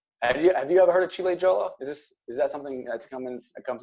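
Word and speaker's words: Ciliegiolo: But here, this is what they say about Chile Jolo is how you pronounce it.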